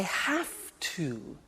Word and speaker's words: have to: I have to. Notice I don't say V, I say F.